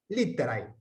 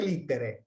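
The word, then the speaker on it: litterae: Se puede pronunciar siempre litere. El diptongo ae lo podemos pronunciar e, si adoptamos una pronunciación más evolucionada.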